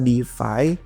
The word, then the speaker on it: DeFAI: nulis artikel tentang Difi tapi defy-nya bukan yang Deffi kayak biasa tapi ai-nya ada jadi bacanya pun sama Defy dan ini memanfaatkan artificial